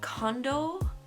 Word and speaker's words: Kondo: I am aware that I say Marie's name wrong it's Marie cond because I thought I didn't realize there was an N but I feel like